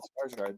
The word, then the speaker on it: Skarsgård: You said Skarsgård.